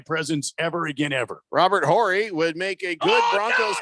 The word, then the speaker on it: Horry: I believe the H is silent, Jeffrey. Horry? Yeah, nope. You don't say the H.